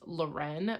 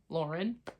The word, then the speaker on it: Loren: is Lauren um it is said that it's pronounced Loren but Rachel and I both refuse to pronounce that way because it's literally spelled like l-o-r-e-n Lauren the world was good and the like main